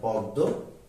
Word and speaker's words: পদ্ম: বর্ণটি থাকবে সে যুক্ত বর্ণটি দুইবার হবে যেমন পদ্ম পদ্ম এখানে ম ফলা যেহেতু এটিও নাসিক্য বর্ণ